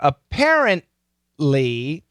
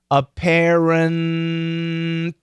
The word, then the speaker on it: apparently: in the same position apparently yeah so i went n then i stopped the t and then i went a dark l lee apparently yeah and